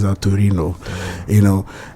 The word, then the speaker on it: Torino: So and um you go to other countries like I always mention Italy let's say Tin they will pronounce that Torino you know h there's always this bit of